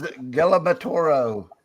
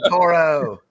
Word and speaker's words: Toro: What is Gabro? Is that how you say it? Toro, Mark.